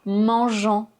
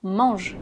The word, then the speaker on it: mangent: Ce n'est pas "mangeant", puisque ici le "ent" c'est juste la terminaison de la troisième personne du pluriel au présent. Donc on ne le prononce pas. "Les enfants mangent".